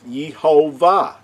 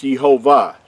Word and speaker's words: Yehovah: that name the name the courageous name pronounced is yehovah now there is no way the Creator's name is pronounced Jehovah only It Is by modern usage of vowel points which changes the way